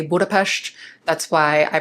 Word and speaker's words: Budapest: An S alone without a Z makes the sh sound in English. So, that's why you'll hear me say Budapest.